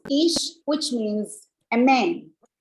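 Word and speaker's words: איש: Pronounced ish, which means a man.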